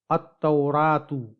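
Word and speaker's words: التوراة: لام کو پروناؤنس کیا۔ لیکن اسے دیکھیے، التورات، التورات، التورات، التورات۔ یہاں ہم نے ال کے لام کو تلفظ نہیں کیا، یعنی ال کے لام کو نہیں پڑھا، ال کے لام کی آواز نہیں نکالی، ال کے لام کو پروناؤنس نہیں کیا، بلکہ ال کے لام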